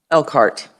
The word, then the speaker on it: Elkhart: Well, you've already pulled it out, but it is Elkhart, exactly.